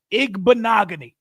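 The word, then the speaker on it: Igbinoghene: IG banagan you know when you say his name the easiest way to do it think of the word mahogany and after you throw the egg out there bogany mahogany it sounds the same Noah IG bogany very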